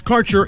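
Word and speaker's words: Kaercher: When we return, your connection to quality cannabis insurance services is spelled K A E R C H E R. That's Carter Insurance.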